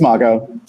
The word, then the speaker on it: Mago: Is that the correct pronunciation? It's Mago.